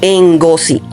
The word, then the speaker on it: Ngozi: Chimamanda Ngozi, o sea, se escribe Ngo, entonces se lee así, Ngozi.